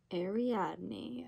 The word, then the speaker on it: Ariadne: and i'm not sure how to say this ari adney a renee i don't know i need to look up how to say this but it's by jennifer's saint ariadne ariadne ariadne ariatni ariadne okay we got it ariadne and look at